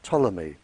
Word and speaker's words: Ptolemy: Greek living in Egypt by the name of Ptolemy spelled with a P he very famous scientist